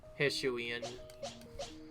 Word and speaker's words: Hisuian: Oh wait, that's also because it's a Hisuian one. Yes, that's how you say it properly. Hisuian.